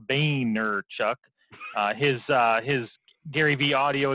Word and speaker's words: Vaynerchuk: channel videos is Gary Vaynerchuk and as he pronounces it Boehner Chuck his his Gary Vee